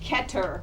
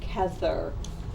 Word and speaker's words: Kether: first separa is called ketter kether it's actually th's are pronounced like a t in the ashkenazic so when you see